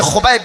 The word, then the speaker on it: Khubaib: तो बच्चे का नाम खुबैब रखना के एच यू बी ए आई बी यानी खुबैब मैं अंग्रेजी स्पेलिंग भी मैंने करके बता दिया खुबैब रखिए खुबैब ये